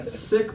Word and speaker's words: Sikh: section, I am a Sikh by background. You can pronounce it either way, Sikh or Sikh.